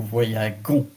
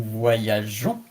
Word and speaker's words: voyageons: If you write it with G-O-N-S, it will be pronounced nous voyagons. But here, as the pronunciation is nous voyageons, you have to add an E between the G and the O.